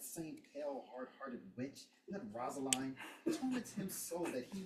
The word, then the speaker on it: Rosaline: Jesu Maria, what a deal of brine hast thou washed thy sallow cheeks for Rosalind? Rosaline. No, Rosaline. Rosaline. Thine rhymes. Exactly. It rhymes. Brian, Rosaline, thine, Rosaline. Right.